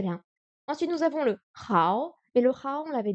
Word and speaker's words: 好: évidemment dans le ni hao, qui veut dire bonjour. 好 Hao. 好 Le O n'est pas très appuyé.